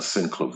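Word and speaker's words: Synclavier: a sin clavier I used to always uh mispronounce that that keyboard I used to call it sin clavia but I learned all these years I've been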